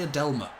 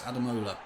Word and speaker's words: Ademola: I always say Adelma. It's Ademola.